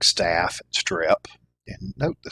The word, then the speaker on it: strep: Um, and then strep. Uh, people mispronounce that, uh, as strip as though it's an I, not an E.